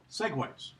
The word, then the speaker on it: segue: a neat trick to do this that are pronounced segway okay in the segway they mentioned here on